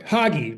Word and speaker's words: Hage: Sorry, Hage, rhymes with hockey.